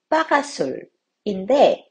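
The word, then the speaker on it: parasol: 갈 때 파라솔들이 있죠이 파라솔 불어로 빠가 술인데 영어로는 패럴 솔이라고 발음은 좀 다르지만 같은 스펠링으로 쓰이네요 재밌는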